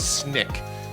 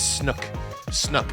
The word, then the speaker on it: Snyk: And I thought, SNYK, and it sounds like, when you pronounce it, it sounds like the old thing in Nickelodeon, but no, it's not snick, it's snook, as in like, snuck something in, right?